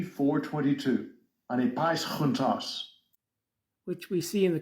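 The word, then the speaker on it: ἀνεπαίσχυντος: one time in 2 Timothy 2:15, which we pronounce anipaischuntos. Strong's G 422, anipaischuntos, which we see in the King James Version translated as that needeth not to be ashamed.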